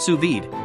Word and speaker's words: sous vide: WS power 1100 WTS what to cook suid pronounced suid cooking offers the perfect level of dness for